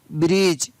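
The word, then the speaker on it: bridge: BRIDG, ब्रिज। BUDGET, बजट, बजट सुनते हैं हमेशा, तो उसकी स्पेलिंग होती है BUDGET, बजट, तो यहाँ पर D है वो साइलेंट।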